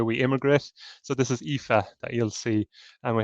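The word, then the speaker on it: Aoife: people the way we immigrate so this is epha that you'll see and we have an epha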